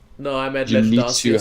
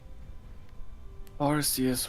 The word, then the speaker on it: Arceus: Arceus was actually the name of a competitive Gen 4 Arceus set. Back when people still thought it was a soft C.